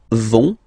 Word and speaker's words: vont: it, so ils vont, final T, not pronounced. Ils vont, and then feminine form, elles vont.